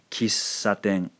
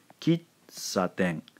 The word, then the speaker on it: kissaten: So the second syllable here is not silent. If we did it that way, it would sound rather different. Let me pronounce it for you that way. Kitsaten. Kitsaten. That is not how they pronounce it in Japanese. So hover on this sound for just a second.